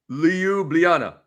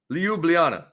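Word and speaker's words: Ljubljana: Leublana. Leublana, man.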